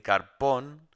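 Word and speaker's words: καρπόν: Ese ese esa palabra es interesante porque carpón lleva tilde en la última.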